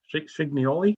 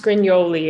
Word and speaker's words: Scrignoli: It's pronounced Scrignoli. It's more intimidating than it looks.